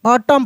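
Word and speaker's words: autumn: यहां पे ए यू टी यू एम एन लिखा है तो एन साइलेंट है। ऑटम पढ़ते हैं।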